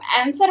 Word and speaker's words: answer: तो यहाँ पे आपको देखने से ही समझ में आ रहा होगा कि जब हम आंसर बोलते हैं इसमें कहीं भी आपको W का उच्चारण बोलने में नहीं आ रहा है, प्रोनाउंसिएशन में नहीं आ रहा है।